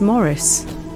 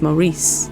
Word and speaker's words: Maurice: the presence of, but his name was Morris, but I was told to call him Maurice, and I'm like, but it's Morris. That's how I pronounce it anyway, and my manager was like, no, it's Maurice.